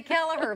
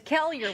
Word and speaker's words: Kelliher: I LOVE THAT YOU JUST PRONOUNCED THE NAME OF THAT CITY BECAUSE IT LOOKS LIKE KELLIHER. AND IF YOU DON'T KNOW IT, YOU SAY KELLIHER. BUT IT'S KELLIHER.